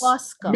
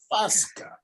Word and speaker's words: Fosca: Fosca. At least me and Diana upon the same thing tonight. But we don't even pronounce it F-O-S-K-A. We A-H-S-K-A. K-A. Exactly. Fosca.